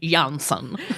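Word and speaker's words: Jonsson: like regular you're like young son because it's spelled like a Swedish guy it would spell it j-o-n-s-s-o-n and also in The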